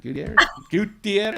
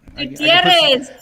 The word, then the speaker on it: Gutierrez: Gutierrez. Oh, whatever. Gutierrez. I can put some flair on it. My goodness. Oh, yeah. You need to roll those R's.